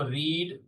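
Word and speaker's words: read: पढ़ी क्या होगा ही रीड द बुक देखो रीड स्पेलिंग तो सेम रहती है तीनों फॉर्म में रीड लेकिन बोलते उसको रेड है।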